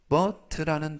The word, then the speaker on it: bought: 이때 bought라는 단어는 buy, 사다라는 동사의 과거형이 되겠고요. 끝부분에 있는 GH는 묵음이라서 이번 단어에서는 발음이 되지 않습니다. 그래서 bought 라고 발음하시면 되겠고요.